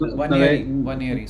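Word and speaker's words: Nwaneri: I can't even pronounce one year so n is silent b n is silent so it's one year okay yeah right what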